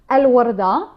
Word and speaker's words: الوردة: So the pronunciation goes Al-Warda, Al-Warda بشقة.